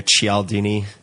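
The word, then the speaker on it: Cialdini: It would be uh a book called Influence um by uh I don't know how to pronounce Robertini or Chaldini.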